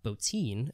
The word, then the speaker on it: Bottin: But Rob Bottin, as I've been told is how you pronounce his name, did the design and effects.